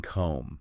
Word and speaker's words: comb: Um, I am seeing from your sources things like, you know, the B and comb, right? Like, why is that there?